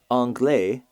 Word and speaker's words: anglais: Anglais, the pronunciation of this word is identical to anglais, A-N-G-L-A-I-S, Yeah. just the French word for English.